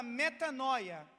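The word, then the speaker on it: μετάνοια: A palavra arrepender, ou arrepender-se, no grego, ela é traduzida e é pronunciada da forma chamada metanoia.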